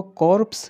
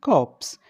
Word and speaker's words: corpse: उसने पाया कॉप्स, इसको कॉर्प्स नहीं बोलेंगे, आर साइलेंट है। ठीक है, इसको हम बोलेंगे कॉप्स।